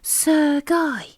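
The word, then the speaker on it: Serge: he exclaimed and surprised he's not surge said judy it's pronounced sir guy sukhoi oplemoth repeated paddington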